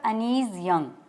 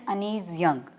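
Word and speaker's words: Anees Jung: अनीज़ JUNG, बहुत से लोग आपको इन्हें अनीज़ जंग कहते सुनाई देंगे, बट इंडियन प्रोनाउंसिएशन अनीज़ यूंग और UK प्रोनाउंसिएशन अनीज़ यंग। तो मुझे जो ज़्यादा सूटेबल लगती है दैट इज़ अनीज़ यंग।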